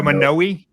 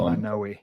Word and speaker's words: Manoi: MANOI. MANOI. So right, you say it again. MANOI. So MANOI. Yeah, in Hawaii, the vowels have to be specifically pronounced.